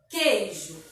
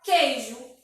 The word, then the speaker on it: queijo: Por exemplo, a palavra queijo. Queijo. Percebe que tem o Q, o E e o I. Percebe? Mas percebe que quando a gente pronuncia, o U não sai. A gente fala queijo.